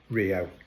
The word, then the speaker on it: Rio: I realized because obviously Rs are pronounced like H's. So Rio.